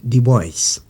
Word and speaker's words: Du Bois: Son nom s'écrit du bois, ça se prononce du boisys.